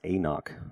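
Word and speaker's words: anCnoc: scotch whiskey here and it's pronounced a knock and C NOC sounds pretty fancy it's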